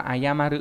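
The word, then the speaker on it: 謝る: Chữ này đọc là ayamaru và mang nghĩa là xin lỗi, đồng ý.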